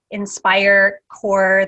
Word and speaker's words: InspireCorps: It's InspireCorps, that's spelled CORPS, like Army Corps, .com.